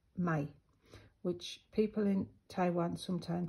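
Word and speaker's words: 米: pronoun pronunciation of it in Mandarin is like my which people in Taiwan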